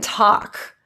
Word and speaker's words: talk: Walk and talk. Very commonly, those L's are pronounced, but we really want to keep them silent.